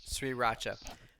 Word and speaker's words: Sriracha: Sriracha.